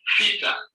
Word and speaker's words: theta: The name of this letter is theta. In the capital, it is written like capital letter O with a dash in the inside. And it is pronounced like TH as in she.